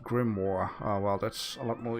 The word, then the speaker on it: grimoire: nice i like that diversity uh it is pronounced grimoire well that's a lot more easier uh turtle